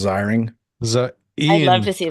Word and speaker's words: Ziering: Excuse me, it's Ziring.